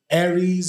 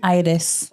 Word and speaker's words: Aires: Is it Aries? Is that how you say it? How you say it? Aires.